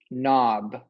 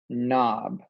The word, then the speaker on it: knob: your name here sign your third word is knob remember we're switching spelling patterns now knob you knob I had to open the doorknob